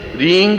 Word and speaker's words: ह्रीं: उस ऐं ह्रीं क्लीं, देखिए अब आपकी इसकी उच्चारण ध्वनि, एंग, रींग, क्लींग। मैं ग की ध्वनि के साथ उसकी बात बता रहा हूं।